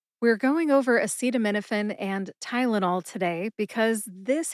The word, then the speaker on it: acetaminophen: Acetaminophen has 6 syllables. Which is a schwa a sound, like the A in the word adoption. Seat, like a bike seat. Again, which is that short A sound again, or that schwa a sound.